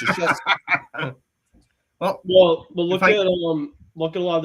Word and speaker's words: Krzyzewski: It begins with a K. His last name should be Kruzewski. mm-hmm. But because his ancestors had to be assholes about it, they have to pronounce it Krzyzewski.